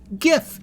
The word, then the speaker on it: GIF: And for the record, GIF has a hard G too. It's graphics interchange format. Hard G. If it was a soft G, it would be giraffics interchange format, which would be fine if it was limited to pictures of giraffes.